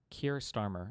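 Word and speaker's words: Keir Starmer: And then Kier Starmer is how you say his name.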